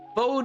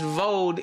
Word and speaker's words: VOD: uh what these uh vode is not pronounced vode it's pronounced VOD etc etc yeah the